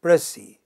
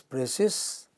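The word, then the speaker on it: précis: the final you know without the s you see in spelling and it has two syllables the stress is on the initial syllable it's a it's a pressy it's not pressy okay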